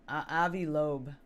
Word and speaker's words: Avi Loeb: pronounce his name? Avi Loeb.